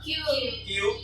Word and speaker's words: queue: akan belajar tentang ya cara bacanya adalah Q atau antrian yang lebih simpel. Yang jelas itu bukan kue ataupun kue lapis.